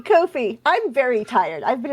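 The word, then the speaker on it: Ko-fi: hope for that face it rhymes with no fee Kofi Kofi I'm very tired I've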